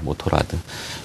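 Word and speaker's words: Motorrad: 좀 전에 CEO 뉴스에서 제가 BMW의 상표들, BMW와 미니, 모토로라라고 읽어버렸네요. 모토라드입니다. 모토라드.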